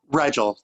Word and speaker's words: Rigel: It looks like, and again, I apologize if I'm pronouncing this name wrong, Rigel Bowen? Rigel, thank you.